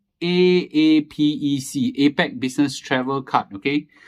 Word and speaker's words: APEC: okay APAC business travel card uh is is pronounced as a sorry it's uh okay let me see you okay it's called a a p e c Apec business travel card okay uh short form